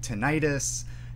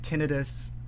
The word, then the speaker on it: tinnitus: the tinnitus pronunciation because that itis typically that suffix of itis typically implies like some form of inflammation and the word isn't